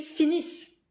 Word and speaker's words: finissent: And ils finissent. Ils finissent. You stop the pronunciation here at the double S, but you write the ENT, just like for the verb of the first group, that you never pronounce.